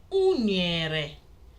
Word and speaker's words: Unere: Unere, which is banana.